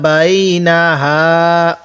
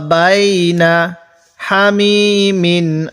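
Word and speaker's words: بينها: ইয়াতুফুনা বাইনাহা, বাইনাহা, আরেকবার পড়ুন আমার সাথে, ইয়াতুফুনা বাইনাহা ওয়া বাইনা হামিমিন আন, ওয়াকফ করলে আন, এরকম ভাবে পড়ব। ইয়াতুফুনা বাইনাহা, অনেকে বাইনা হুমা পড়ি, এখানে এইভাবে পড়ব না, তাহলে কিভাবে পড়ব? ইয়াতুফুনা বাইনাহা ওয়া বাইনা হামিমিন আন।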